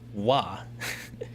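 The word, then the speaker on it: は: This thing right here um is also a sentence joiner uh pronounced as wah.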